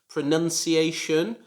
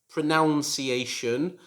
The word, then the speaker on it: pronunciation: listening and you know it should be pronounced pronunciation. It should not be pronounced like pronunciation, as I often hear, but I can understand why some of my students make this mistake, because the verb is pronounce, however, the noun is pronunciation.